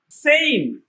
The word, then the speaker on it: same: যেমন SAME, সেইম। International phonetics rule অনুসারে অর্থাৎ IPA রুল অনুসারে SAM সেইম অর্থাৎ উচ্চারণ এম এর জায়গায় গিয়ে থেমে গেছে, এখানে ইর উচ্চারণ কিন্তু আসে নাই।